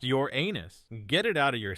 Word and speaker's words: Uranus: be vaporized instantly Uranus yes it's pronounced your anus get it out of